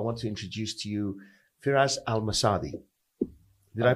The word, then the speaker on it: Firas Al Msaddi: further Ado I want to introduce to you firas al-masadi did I pronounce it yeah to perfect but you know